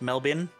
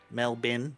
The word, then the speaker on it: Melbourne: him there and it's it's pronounced melbin melbin melbin l m e- l